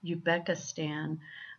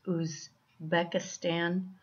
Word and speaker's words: Uzbekistan: very important that and we may pronounce it here in the States as you Becca Stan but it's actually you see I believe it's booze Becca Stan so if you have